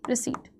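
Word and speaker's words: receipt: आर ई सी ई आई पी टी रिसीट। सी के बाद ई आई आ रहा है और पी साइलेंट है आपका।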